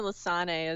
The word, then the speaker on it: Lissane: Yeah, Lissane or Lissane is usually how I say it.